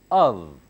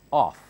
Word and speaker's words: of: Of, it's not off. In the first lesson I taught you, this word is not called off, it's of. This one, off.